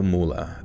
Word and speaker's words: Moola: uh okay kill kill Moola oh okay rhymes with doll kill M okay a soft a soft unstressed vow similar to uh kill MAA okay